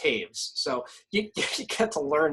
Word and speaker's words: Toews: You got like Teravainen, Shea, and Taves, which is a North American thing, but still, I mean, it's Toews and it's pronounced Taves.